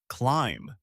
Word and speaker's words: climb: The B at the end is silent. You say climb. Climb. To climb means to go up. To climb a mountain. To climb stairs. Now you repeat. Climb. Say it again.